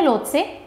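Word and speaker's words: Lhotse: Number 4 पे आती है लोत्से या लोसे, जैसे भी आप प्रोनाउंस करो।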